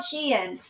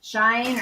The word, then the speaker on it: Shein: So a couple of my items came in from Shein, you guys, and it's called Shein. I know a lot of people pronounce it Shine or Sheen, but it's called Shein.